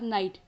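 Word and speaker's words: knight: उसे हम पढेंगे अवश्य इसी प्रकार नाइट यहां पर फ्रेंड्स जी का वितरण नहीं किया जा रहा है जहां पर जी साइलेंट है इस प्रकार आगे आता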